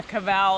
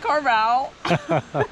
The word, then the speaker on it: Cavell: Every time we correct you, then you're like, okay, oh yeah, Cavell. And then you're like, Edith Carvel. Like right away you say it wrong again.